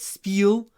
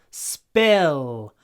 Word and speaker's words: spill: open your mouth spill it's not spel spill the mouth opens SP the tongue goes up spill spill in your throat spill spill don't spill